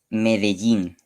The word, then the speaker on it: Medellín: Medellín, Am I pronouncing that right? Medellín.